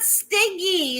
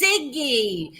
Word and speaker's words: Siggy: His name is not Stiggy, it's Siggy. And you never pronounce the name right when somebody has a gun.